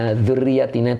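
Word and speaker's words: ذُرِّيَّاتِنَا: Nah, kemudian, dzurriyatina itu boleh dibaca dua qiraat, boleh bil jam'i dzurriyati, ya, berarti mu'anas, jama' mu'anas salim. Boleh juga wal ifrodi, dibacanya mufrad, dzurriyatina, gitu, panjangnya di na-nya, begitu ya.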